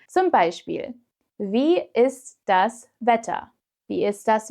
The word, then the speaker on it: ist: With ist, it's even easier to remember because in fast-spoken German, it's pronounced like the English is, so without the T. Not too difficult, right? Zum Beispiel, wie ist das Wetter?